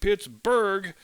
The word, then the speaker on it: Pittsburgh: local phonology changed and people switched to calling it Pittsburgh with the hard G sound on the end and the reason why probably has much to do with the influx of German immigrants to the area beginning in the mid 19th century a native German speaker would never look at b-u-r-g-h and say burrow they would just say Berg in the German fashion and both suffixes mean